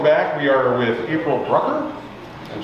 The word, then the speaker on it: Brucker: And with us today, April Brucker. Yes. Who sounds like Hooker.